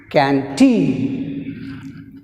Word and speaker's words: canteen: Next word is canteen, canteen, canteen. In canteen, first syllable can, second syllable teen.